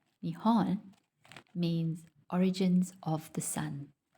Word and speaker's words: Nihon: Japan, pronounced Nihon, means origins of the sun.